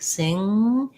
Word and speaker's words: sing: sound is the difficulty you want to be lifting the tongue in the back sing but don't let it drop into a gu so i don't want singing no g sounds just the ng sound um you can feel